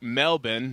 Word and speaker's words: Melbourne: So we were in Mel Mel Melbourne. That's how they say it.